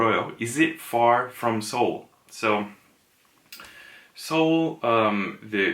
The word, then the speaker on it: Seoul: Seoul so so the the Korean pronunciation is actually saw wood saw wool but when you say quickly it comes more like the western pronunciation of Seoul a little bit when you speak quickly so so little it's